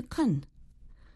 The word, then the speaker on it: can: In a previous lesson of the day, Andrew and I explained how speakers of English change the pronunciation of the verb can when they talk more quickly. Can changes to kun.